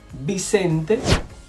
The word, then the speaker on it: Vicente: Remember that the V and the B in Spanish sound exactly the same.